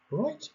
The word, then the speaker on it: right: شوفوا كاين هذيك جي اتش right ما كنطقوهاش هنا غير هنا، وهادو من بين الامور اللي صعيبه شي شويه في اللغه الانجليزيه، ولكن الا تبعتوا معايا مزيان ما غاديش يكون مشكل ان شاء الله. اذا هنا ما كنطقوهاش جي اش في هذه اللحظه هذه ما كنطقوهاش، كنقولوا right right.